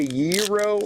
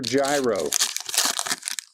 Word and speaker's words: gyro: you pronounce that Brian do you say Euro or Gyro I pronounce it Euro but you know in